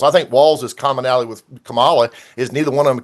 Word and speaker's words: Kamala: States, at least show her enough respect to pronounce her name properly. It's Kamala.